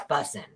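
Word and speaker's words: bussin: And you kind of have to say it like busing. Like, no, I'm not saying it right. Oh, it's busing.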